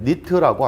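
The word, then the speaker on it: nit: 하나는 NT라고 쓰고 읽을 때 니트라고 합니다. 니트. 두 번째는 SB라고 쓰고요. 스틸브라고 읽어요.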